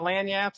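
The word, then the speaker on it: lagniappe: Lyap, which is Do you know what lanyap is? Spell it.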